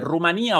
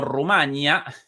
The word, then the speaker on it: Rumanía: El nombre de este país europeo presenta en español dos acentuaciones, ambas válidas.